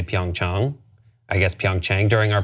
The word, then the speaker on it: Pyeongchang: The correct pronunciation is Pyeongchang. Chang, like when you go see your doctor, Pyeongchang, Pyeongchang, Pyeongchang.